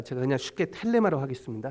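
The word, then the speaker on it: θέλημα: 헬라로키 세우라는 말인데 그 그 앞에 말이 그 번데기 발음이라 제가 그냥 쉽게 텔레마 하겠습니다 셀레마 텔레마 to 태 셀레마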